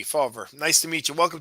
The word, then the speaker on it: Fawver: I pronounce that correct Jeff how do you pronounce your last name it's fer faver okay I can't I didn't see the V faver nice to meet you welcome to the Jersey